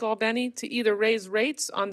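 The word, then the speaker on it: Albany: Bishop, I know you know I know how to pronounce All Benny. And now, House Republicans are slashing funding for clean water projects by 62%. Leaving cities like Albenni to either raise rates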